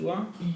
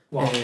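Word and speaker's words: は: E io e wa è la particella del soggetto, che essendo particella si legge Wa. wa.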